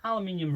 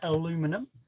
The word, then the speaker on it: aluminium: So I we have an aluminium rod or as the Americans say aluminum if we have any Americans in there.